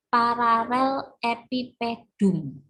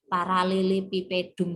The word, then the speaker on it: paralelepipedum: Nah, benda yang seperti ini kita sebut sebagai paralel epipedum. Jadi kalau bacanya ini kan susah gitu ya, paralelepipedum gitu. Tapi ini bacanya sebenarnya adalah paralel epipedum.